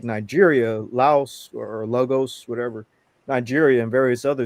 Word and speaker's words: Lagos: This nigga said Laos. But Lagos.